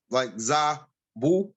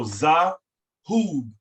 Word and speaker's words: Zahub: I say the last part is like zabu, zabu. No, Zahub, H-U-B, Hub. Okay, hub. Okay, zahub. There you go, Zahub. Oh, there you go. Right. So the pronunciation of the vowels AU is ah as an opposite and u.